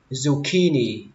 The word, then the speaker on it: zucchini: Bí ngồi thì các bạn đọc là zucchini. Zucchini. Âm đầu tiên các bạn xuống giọng, đến âm tiếp theo âm key thì các bạn lên giọng và xuống giọng ở âm thứ ba.